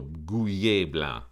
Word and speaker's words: Gouais Blanc: It's got the AIS on the end, and so does Beaujolais. So Gouais Blanc, that's how we're going to pronounce it.